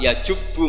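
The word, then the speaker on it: يجب: Terus Nabi ngendikan al-Islamu yajubu ma qablah. Itu bacanya bukan yajibu tapi apa?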